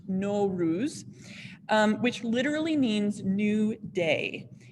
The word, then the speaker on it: Nowruz: So this is the holiday of NO-ROOZ. So if you want to try saying that, it's pronounced NO-ROOZ.